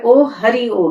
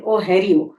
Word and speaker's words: ओहरिओ: तो ये नेम जो है ओ हरि ओ है। तो कई लोग इसको प्रोनाउंस करते हैं ओ हैरी ओ, लेकिन ओ हरि ओ है।